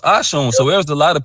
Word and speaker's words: Oshun: They even disrespecting mother Ashun because her name is pronounced Ashun. So there's a lot of people running around saying Oshun, and Oshuns mean dirty.